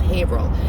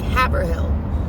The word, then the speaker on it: Haverhill: of people are like haverhill because most of the united states actually pronounced their r's so but a lot of them new englanders do not um so when i